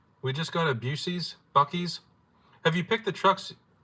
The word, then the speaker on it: Buc-ee's: I'm pronouncing it Busey's. Oh, I've been saying it way wrong then. They smoke brisket in the store. Busey's. Buc-ee's.